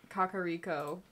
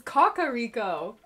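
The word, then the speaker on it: Kakariko: Brave that's the first time I've ever heard kakaro pronounced like in an ad or like trailer or something I always called it kakaro so it's Kaka Rico oh my god I've been mispronouncing it this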